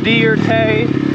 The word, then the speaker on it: Dierke: but i wish and my name is dierke it's pronounced dear tay deartay in the